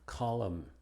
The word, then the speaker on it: column: Es muda después de la M al final. Palabras como autumn, column, condemn, damn, him, and solemn.